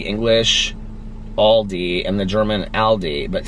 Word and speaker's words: Aldi: Okay, regarding the Aldi question, did you know it's a German chain? I pronounce it like Aldi when I'm speaking English, but I guess it sounds a bit more like Aldi in German.